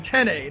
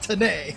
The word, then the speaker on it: Tene: He literally told me, it was like, it's Jonathan Tene, not Tene.